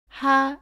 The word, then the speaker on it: 하: 쓰고 이응 을 씁니다 ps 는 목구멍에서 바람을 내며 내는 소리입니다 모음 아 를 붙여서 하 라고 발음합니다 따라해보세요 하 하 지금까지